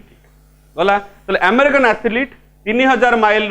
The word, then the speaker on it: athlete: यदि ठीक करिबा ताले बनान भी ठीक हबो एथलीट मन रहबो आमे साधारणतः कोन उच्चारण करि दो एथलीट ईटा पसियो माने सेठी